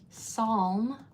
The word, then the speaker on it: psalm: In psalm, you're only hearing the s, not the p.